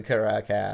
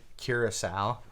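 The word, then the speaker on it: Curaçao: a splash of blue caracas oh and a drop of granite by the way i'm pretty sure that's people pronounce it curacao curacao yeah i think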